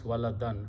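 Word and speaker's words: وَلَدًا: And waladun becomes waladan. When you stop, you should pronounce walada.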